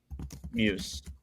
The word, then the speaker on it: Muse: wrong, but um Don, is it Dan Moose or Don Moose? Muse. Oh my god, I'm saying it wrong.